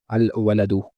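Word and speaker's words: الوَلَد: The word walad starts with the letter waw, and waw is there in the moon phrase. So we will pronounce lam here while making it ma'rifah. Al-waladu.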